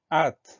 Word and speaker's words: hâte: Allez, le premier mot, c'est le mot hâte. Alors là, il y a deux choses auxquelles on va prêter attention. La première, le H au début du mot, qui est un H muet, évidemment.